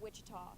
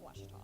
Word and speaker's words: Ouachita: is it pronounced oti back in Texas everybody pronounces it witch but really it's wash how would you pronounce it it's Baptist University